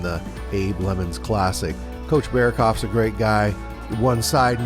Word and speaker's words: Berokoff: I hope I pronounce it right. Berokoff. You know, it's okay. I've heard it worse before. It's Berokoff, but that's okay. Berokoff.